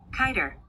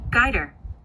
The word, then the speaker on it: Guider: Which pronunciation is it okay for me to use? Kiter. Kiter? Kiter. No, don't have it. Guider. Bingo.